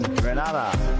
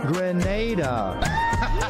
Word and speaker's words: Grenada: So, today, like we German say, we are in Granada, but I heard in English it's called Grenada. Say it right. Grenada.